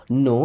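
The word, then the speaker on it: know: You means आप नो means जानते हैं। अब नो वर्ड में के और डब्ल्यू साइलेंट।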